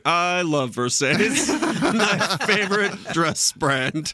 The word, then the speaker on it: Versace: by pronouncing her new Versace dress as Versace.